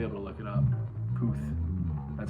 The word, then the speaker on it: Puth: Puth. That's how you pronounce it, Charlie Puth.